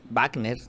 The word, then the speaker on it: Wagner: líderes de este grupo Wagner Wagner Así es como dicen se le debe de pronunciar estaban en este vuelo